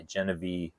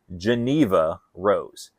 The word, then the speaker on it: Geneva Rose: the Bodies Are by Genevieve Geneva. That I I keep pronouncing her name wrong. Geneva Rose.